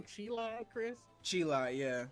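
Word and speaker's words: Cheelai: Chila, yeah.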